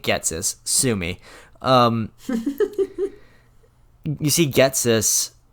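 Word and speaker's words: Ghetsis: I probably am, because I've heard that pronounced so many ways, but I'm pronouncing it Getsis.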